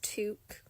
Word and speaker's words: toque: It's pronounced toque.